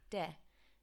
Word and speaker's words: de: I've highlighted the de here because students have a tendency to pronounce it like D. Now again, like the me we saw over here, let's pretend that there's an H after this E, so de.